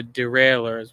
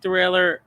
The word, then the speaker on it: derailleur: Adjusting the gear shifters, or the derailleurs, which is, I think is a French word, but it's actually pronounced derailleur. It looks like derailleur, but not the way you think.